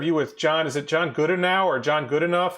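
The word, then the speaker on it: Goodenough: a picture of you with john is it john gooda now or john good enough how do you pronounce his name yeah it's john good enough okay so he is a research a battery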